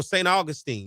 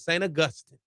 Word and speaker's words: St. Augustine: And see, for years, I said it wrong. St. Augustine. No, it's St. Augustine. Get it right.